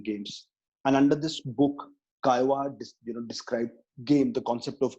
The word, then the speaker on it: Caillois: on man playing games and under this book chi-wah described game the concept of game and he